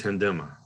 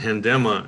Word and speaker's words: Gendema: pronounce their name endema because it is argentina so you don't pronounce the g i could be wrong but i think it's handema and uh right away i